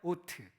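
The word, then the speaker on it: אות: 줍니다이 표적이란 하은 히브리어로는 트라고 합니다 따라해 보실까요 오트 발음이 좋으십니다 헬라어로는 세메이온이라고 합니다 해보실까요 세메이온 메 놀랍지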